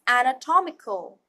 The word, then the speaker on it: anatomical: at other variation of such words anatomy becomes anatomical look at the difference in how the word is pronounced just like biology and biological sounds change